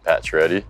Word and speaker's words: Pacioretty: How is Max Pacioretty pronounced? I just said it, Pacioretty.